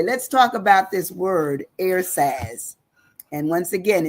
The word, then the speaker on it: ersatz: Today, our word is ERSATZ. It sounds like air and saz, but it's spelled ERSATZ, ERSATZ.